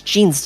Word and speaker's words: Gene: That's Gene's desk. Gene Jack Gibson. He's our ace runner. I think it's pronounced John in this game.